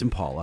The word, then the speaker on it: Impala: super exciting super fun is it Impala or Impala because it's all different people say it different ways it's Impala that's the most exciting